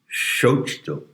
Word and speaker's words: Xochitl: But whether you pronounce the TL in Nahua is a big issue, and it's a delicate matter. Sometimes you don't actually pronounce it, but sometimes you pronounce it as if it were a lingering whisper.